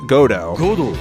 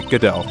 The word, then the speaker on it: Godot: But it should be mentioned that the Japanese anime says Godo, and the English anime says Godot.